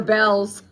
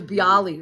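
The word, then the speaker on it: Bealls: Or Bells. I never knew that store was Bells. They spell it really weird on the on the top of their store, right? I thought it was Bali.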